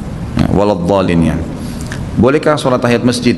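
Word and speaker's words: ولا الضالين: Yang saya tahu tetap dibaca d ya waladin ya.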